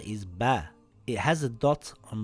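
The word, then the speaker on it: باء: This letter is Ba. It has a dot on the bottom. It is a light letter and sounds like the letter B in the word bat or the word bag.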